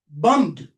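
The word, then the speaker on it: bombed: Bum bum m bummed.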